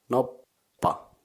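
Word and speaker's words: noppa: penny that's right dice or actually die is no pop no pop again I can't come up with anything with the first syllable nope in English but you can just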